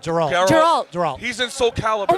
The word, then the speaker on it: Geralt: How do you pronounce his name? Gerald. Geralt.